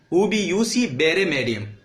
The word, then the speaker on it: Ubi jus ibi remedium: लिखते हैं जस इबरेडियम लेकिन उसको लैटिन अबाउट बोला जाता है यूबी यूसी उबी यूसी बेरेडियम ये बोला जाता है इस तरीके से लैटिन में तो खैर ये लैटिन का प्रोनाउंसिएशन है।